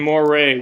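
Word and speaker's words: moiré: room know how many people don't know what Moray is? Okay, I need everybody to go online really quickly. Open your favorite browser. And type in Moray, which is spelled M-O-I-R-E.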